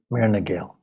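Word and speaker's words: Muire na nGael: That is did I pronounce that correctly? Myrna Gael? Myrna Gael, yeah.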